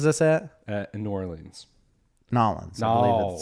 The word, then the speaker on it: New Orleans: Nolans. I believe it's pronounced.